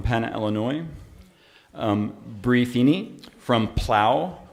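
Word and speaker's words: Plough: Illinois, Bree Feeney from Plow, which is spelled P-L-O-V-G-H, but pronounced P-L-O-W, if you would.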